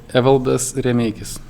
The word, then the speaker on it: Evaldas: My name is still Danny and I'm here today joined with Evaldas. Is that correct? The name? Almost, yeah. Okay, how do you say it correctly? Evaldas.